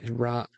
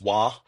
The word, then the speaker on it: Roy: I've heard different pronunciations, but I think in uh, I think in the in the good Canadian culture, I think it's Wah, as in Patrick Ra, Wah.